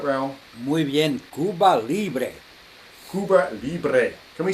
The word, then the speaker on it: Cuba Libre: You would find there is a drink there in Cuba called the Cuba Libre. Now, again, we're just going to check with Raul. Did I pronounce that all right, Raul? Muy bien, Cuba Libre.